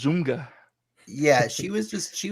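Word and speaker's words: ZOMFG: she said z-o-m-f-g yeah pirate dave says that's pronounced zumga yeah she was just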